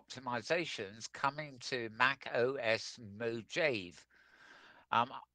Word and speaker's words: Mojave: Apple have detailed the latest VR optimizations coming to Mac OS Mojave. Um, I think you pronounce it Mojave. Mojave, I think it's a Native American.